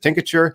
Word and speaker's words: tincture: you pronounce picture anyway is it tincture is it tinkature is it uh what's the appropriate pronunciation of this we call it tincture tincture and most people in